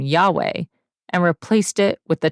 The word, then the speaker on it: Yahweh: sounds were not recorded debate surrounds the pronunciation of the name however most Hebrew Scholars would agree that it is Yahweh our founder Jim Hutchins